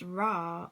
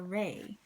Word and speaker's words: Ra: goals achieved um so it says pronounced raw or Rey okay was the God